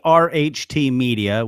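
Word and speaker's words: ARHT Media: So, um, this company ART Media, which they pronounce Art Media, it's a Canadian company.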